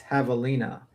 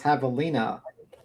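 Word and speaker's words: javelina: The J is silent. It's Havalina. Ah, okay. It's Havalina.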